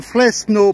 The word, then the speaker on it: Fresno: fresno del camino et je dis bien fresno parce qu'on prononce toutes les lettres ne l'oublient pas en espagnol voilà eh bien il